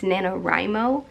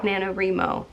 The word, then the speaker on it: NaNoWriMo: Also, I just realized yesterday I've been pronouncing it wrong. It's Nanowrimo, not Nanowrimo, which is pretty embarrassing.